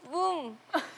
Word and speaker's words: 붐: 정확한 발음 뭐라고요? 붐.